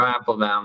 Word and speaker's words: Apfelbaum: Am I saying it right? You're saying it right, Apfelbaum. That's right. He gave me a 101 tutorial on how to say his last name is 3 syllables.